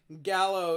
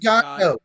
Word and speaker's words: Gallo: Gallo is the Spanish word for rooster, and it's pronounced Oh. it's No, pronounced Gallo. Gallo.